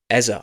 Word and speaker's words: Eze: We don't need a Martin Erdigard or a Eber Ezar. I should say Ezar. That's how you say his name.